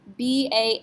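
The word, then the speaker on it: bas: r f and L do we pronounce the S no s is not one of those four letters c RF l so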